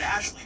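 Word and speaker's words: Ashliegh: Pronounced as Ashley before her husband stopped her.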